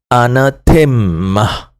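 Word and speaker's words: ἀνάθεμα: Nah, ini perhatikan dari kata anatema transliterasinya anatema pengucapannya anatemmah.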